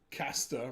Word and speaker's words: Caster: Caster, rhyming with pasta.